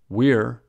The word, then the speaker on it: we're: the same as it's we're rhymes with beer there sounds the same